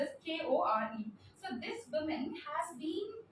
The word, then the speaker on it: Kore: It's pronounced as Kore.